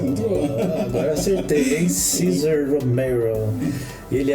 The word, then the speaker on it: Cesar Romero: Olha a pronúncia, muito boa. Agora acertei, hein? Cesar Romero.